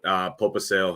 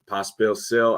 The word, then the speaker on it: Pospisil: And I like his line mate, Popisil here as a full line strength stacked together. Popisil has been Pospisil, I think is how you pronounce it.